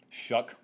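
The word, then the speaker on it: Shough: debate about it too shuck just ignore the spelling mr shuck was 21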